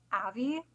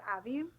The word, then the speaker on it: Avi: You pronounce her name Avi because it rhymes with Savvy. Yeah, so Avi.